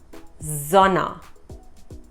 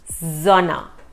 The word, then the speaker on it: Sonne: Or the sun is called Sonne. The Sonne. Not Sonne, Sonne. So remember, the S sound is Z.